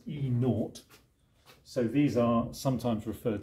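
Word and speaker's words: E°: the conditions and that usually gets pronounced as e naught so these are sometimes referred to as enote values okay right well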